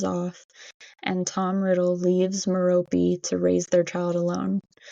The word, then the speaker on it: Merope: Tom was born to parents Tom Riddle, who was a muggle, and Merope. Yes, that's how her name is said. I looked up the pronunciation, but Merope Gaunt, who was a witch.